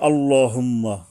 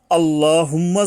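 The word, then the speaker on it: اللهم: অর্থাৎ মোটা করতে গেলে বাংলায় আকার উচ্চারণ করা যাবে না। তাহলে অক্ষরটা হালকা হয়ে যায়। যেমন লক্ষ করুন আল্লাহুম্মা যদি আমরা বলি আল্লাহুম্মা হইলো একভাবে।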